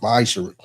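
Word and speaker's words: maaser: chapter 3 verse 8-10 means 10th in Hebrew and it's pronounced misher 10% of every penny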